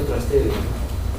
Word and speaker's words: Trastevere: Tras es al otro, pero se pronuncia Trastevere.